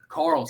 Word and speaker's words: Karels: No problem, but hey, before we get on, we pronounce the last name, is it Karels? Karels.